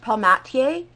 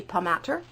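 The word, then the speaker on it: Palmatier: Ammon core by Joshua I think it's pronounced palm at Ta but it could be pum at her then I've got the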